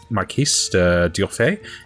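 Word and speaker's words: Marquis d'Urfé: I know, it's pronounced Marquis de Durfay is needed because none of the family can kill their grandfather.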